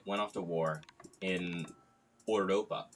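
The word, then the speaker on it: Europa: So Gatsby went off to war in Ouropa. Oi Boy Ouropa, it's how you say it in German, just FYI.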